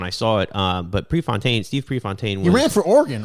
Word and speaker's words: Prefontaine: Prefontaine.